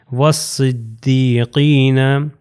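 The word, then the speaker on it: والصديقين: گا، یہ واف صاد سے مل جائے گا، والصدیقین۔ اگلی میں بھی آپ دیکھ سکتے ہیں والشہدائی،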